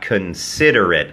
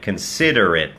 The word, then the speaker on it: considerate: นะ ครับ ออก เสียง ว่า K นะ ฮะ เพราะ ว่า ไม่ เน้น พยางค นะ ครับ จึง กลาย เป็น เสียง เออะ ฮะ considerate แล้ว เน้น พยางค นะ ฮะ considerate นะ ฮะ ซึ่ง ตรง นี้ นะ ไม่ ใช่ สระ อิ ซะ ที เดียว นะ ครับ มัน ก็ อ่า กึ่ง อิ กึ่ง เอะ ครับ cate considerate นะ ฮะ considerate นะ ครับ อัน นี้ จะ แปล